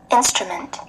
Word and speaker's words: instrument: Instrument. Cái thiết bị. Instrument, nhấn vô chữ in ha.